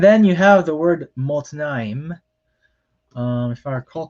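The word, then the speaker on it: מָתְנַיִם: And then you have the word motnaim. If I recall correctly, that's the word for loins. So you have a comet here, but instead of the usual long A, it makes a short O sound.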